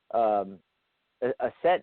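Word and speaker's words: Aset: do Isis a set a set is actually the Egyptian pronunciation Isis is the Greek Greek pronunciation of a set and you know with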